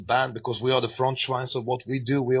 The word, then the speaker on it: Frontschwein: Well, we're going to go the track Europa Progret off Frontschwein. Is that how you pronounce it? That's correct.